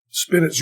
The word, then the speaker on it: spinet: sugar you keep the spinet of all our friends and just wait a goddamn minute okay so spinach rhyming with minute Gifford a song I've